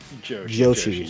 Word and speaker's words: Joshi: Joshi. Yes. So, Mr. Joshi, I like what you've done so far. Joshi rhymes with Broshi.